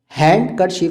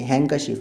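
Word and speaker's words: handkerchief: हैंड कर्शीफ नहीं कह सकते, हैंकरशीफ है।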